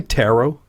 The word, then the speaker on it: tarot: Did you say tarot? Yes, it's tarot. So it's spelled Tarot, right? Not like bow and arrow.